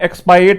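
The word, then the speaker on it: expiate: ये राइम करता है एक्सपायरेट से।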